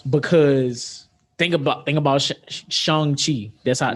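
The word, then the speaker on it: Shang-Chi: think about think about shanghi apparently that's how you pronounce it that's how they say it in the trailer but that's coming out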